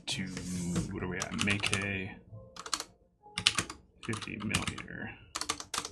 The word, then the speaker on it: Meike: know the pronunciation is make a um at least as far as our contacts at the factory go so make it not mike not mikey so right off the